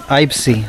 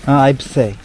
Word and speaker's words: Eibsee: Eibsee. Huh? They, like... Eye, You don't say see, like you see something. Eibsee.